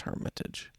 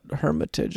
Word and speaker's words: Hermitage: messing with me well there's a place in Europe where it's pronounced differently but I think this one is just Hermitage well if you're from